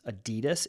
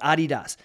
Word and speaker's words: Adidas: and they said that the real way to pronounce Adidas is Adidas so for 38 years I've